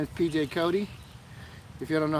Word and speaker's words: Cote: If you don't know how that's pronounced, it's Cote, because I just said it. If you don't know how it's spelled, it's pronounced or spelled Cote, C-O-T-E. And it sounds like Kotex.